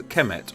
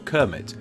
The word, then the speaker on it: Kemet: During the Old Kingdom of Egypt, the country was simply called this, which is now pronounced as Kemet or Kermit, but it's believed that in ancient times it was pronounced Kumat, though what do I know about pronunciation?